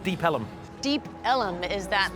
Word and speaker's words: Deep Ellum: And so we're deep on Elm Street, and in the old days they used to pronounce it Ellum. So it kind of stuck, Deep Ellum.